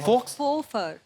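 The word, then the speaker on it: faux: और ये की एफ ए यू x what is that x को प्रोनाउंस ही नहीं करते फोफर फोफर तो एक्स नाम ही नहीं लेना उसका साइलेंट है वो मतलब फेक मतलब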